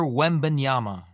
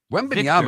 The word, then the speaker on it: Wembanyama: Everyone would have to pronounce his last name. Felipe's already got it down. Felipe, go. Victor Wembanyama. Wembanyama is not that difficult.